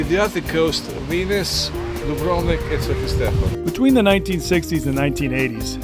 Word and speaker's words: Sveti Stefan: If you wanted to see or be seen, you would go to Stevi Stefan. Sveti Stefan. I keep on saying Stevie Stefan.